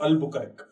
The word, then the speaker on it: Albuquerque: It has to be pronounced as Alfonso Albuquerque.